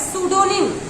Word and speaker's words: pseudonym: तो सूडोनिम की स्पेलिंग की अगर हम बात करते हैं तो सूडोनिम की स्पेलिंग PSEU होता है। सूडोनिम PSEUDONYM। तो सूडोनिम हमारा मतलब गुमनाम आप कह सकते हैं।